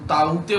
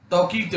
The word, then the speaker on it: Tauktae: तो साल के पहले चक्रवाती तूफान का तौकीते नाम अगर देखा म्यांमार की भाषा में देखा जाए तो ताऊते बोलते हैं इसे, और हिंदी और इंग्लिश प्रोनाउंसिएशन में तौकीते बोलते हैं।